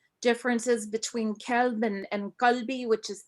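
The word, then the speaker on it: كلب: And I just wanted you to correct me if I'm wrong, but the Arabic word for dog is kelb, as far as I remember studying Arabic, and it's with a K sound, whereas Galbi, which is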